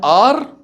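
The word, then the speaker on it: hour: An R, a hat, we can use, we use an with R because the H in R is silent, but the H is hat is not.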